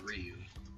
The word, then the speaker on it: Ryu: First of all, it's pronounced Ryu.